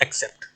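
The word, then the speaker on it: except: ठीक, इसका मीन, इसको हिंदी में उच्चारण में ये पढ़ते हैं एक्सेप्ट, ऐसे।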